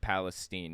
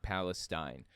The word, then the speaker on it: Palestine: derailment in Palestine Ohio and apparently it's actually pronounced Palestine not Palestine the one in the Middle East is pronounced